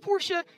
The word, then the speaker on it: Porsche: is a Porsche yes it's pronounced Porsche shut the up you're dumb